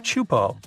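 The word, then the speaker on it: Teahupoʻo: It's pronounced Chupo, and it means broken skulls in Tahesian.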